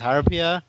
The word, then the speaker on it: Harpuia: Some people say it's Harpuya, some people say it's Harpia. I don't I know which one it is. I'm just going with Harpuya because that's how technically you will pronounce it in Spanish.